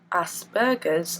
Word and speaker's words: Asperger's: is going to be a vlog about Aspergers, or Aspergers, how it's correctly pronounced. However, I refrain from using that pronunciation for the simple fact of people struggle enough to understand me as it is without thinking that I have burgers coming out of my butt.